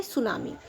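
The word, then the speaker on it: tsunami: तो सुनामी को हम बोलते हैं समुद्री तूफान, जिसमें हमारा टी वर्ड रहता है साइलेंट। ठीक है, तो इसको हम बोलेंगे सुनामी, समुद्री तूफान।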